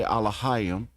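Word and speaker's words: Elohim: And I say Allahayim because that's how you say it in the language of Adam, and the ancient Hebrew that the Greeks called Canaanite Hebrew, and they called the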